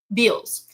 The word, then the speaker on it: Bealz: This is the scene where and I hopefully I just pronounced your main character's name right. Biz. Is that correct? Beals. Beals.